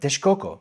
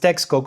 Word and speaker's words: Texcoco: the area around Lake Texcoco, today pronounced Texcoco or Texcoco depending on whom you ask, the location of modern-day Mexico City.